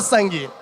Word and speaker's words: sangue: O U é pronunciado? Não, que ninguém fala sangue. O U não é pronunciado.